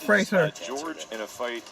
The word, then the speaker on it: Fraser: Rhymes with razor, Brendan Fraser.